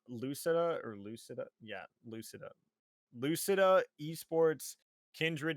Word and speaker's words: Lucida: We have Lucin. I always say their wrong name wrong. Lucida.